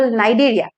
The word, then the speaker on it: Cnidaria: So first to hol porifera, second to hol cnidaria. C to pronounced hoy, C to silent hoy. So itu hol cnidaria.